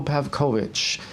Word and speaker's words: Pavkovic: Jazz Rock's podcast is honored to introduce Pavkovic and am i pronouncing your name properly actually that's that's correct